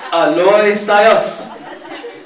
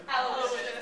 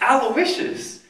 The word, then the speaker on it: Aloysius: Aloy Sayas. Aloy Sayas! Get here, like, it's. Well, how do you pronounce it for real? Aloysius. Aloysius.